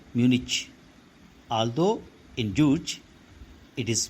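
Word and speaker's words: München: I belong to a southern German city called Munich although in Jewish it is pronounced as Munchen so boys in the first few minutes itself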